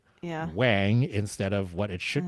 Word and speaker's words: Wang: Um, and also there are many skaters who, for example, um, Luke Wang, who pronounces it Wang instead of what it should be pronounced as, which is Wong.